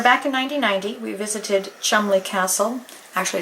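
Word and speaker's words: Cholmondeley: when we were back in 1990 we visited Chumley Castle actually it's spelled CH Mand but it pronounced Chumley with Aunt Barbara and Brandon and Molly and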